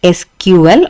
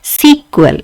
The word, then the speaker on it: SQL: to this um sql sql can be uh pronounced as sql or it can be sequel it can be um